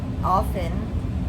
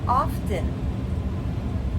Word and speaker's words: often: Now, many people do say that T is silent.